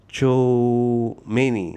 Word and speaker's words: Tchouaméni: Um this name I I I have difficulty pronouncing. Tchouaméni.